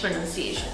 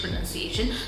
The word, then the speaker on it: pronunciation: Again, this is not pronunciation, it's pronunciation. Pronunciation.